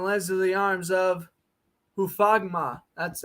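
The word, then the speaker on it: Hufanga: And lands into the arms of Hufagma. That's how you pronounce it.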